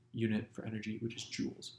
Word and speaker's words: joule: measured in this unit j which is pronounced joules you can laugh at